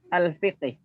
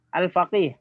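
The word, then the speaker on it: الفقيه: Al-Imamul Muhaddis Al-Fiqih. Bukan, Al-Faqih. Al-Faqih, ya. Kalau Al-Fiqhi tidak ada ya-nya. Kalau ada ya-nya Al-Faqih bacanya.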